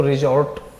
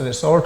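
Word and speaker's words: resort: रूप में करते हैं तो रिजॉर्ट नाउन होती है, जिसका मतलब होता है आश्रय स्थल। लेकिन जब हम इसका प्रयोग वर्ब के रूप में करते हैं तो ये रिसोर्ट कहलाता है, प्रोनाउंस रिसोर्ट हो जाता है वर्ब के रूप में।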